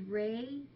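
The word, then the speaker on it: Rhea: on her tum tum her name is Ray but it's spelled rhe e a rhe e a and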